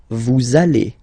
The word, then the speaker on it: allez: Same thing here. We'll have this little link between the two. Vous allez. Vous allez.